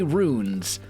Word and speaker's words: runes: I say runes like this is ruined, and people are like, no, it's ruins, you English pleb.